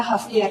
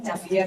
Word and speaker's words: Javier: saya itu kan namanya Javier pakai j ya Javier gitu tapi kalau di luar di situ kan Ha bacanya kan Haier sebenarnya I Haier kan Tapi kalau sini kan Javier itu ya udahlah Pak saya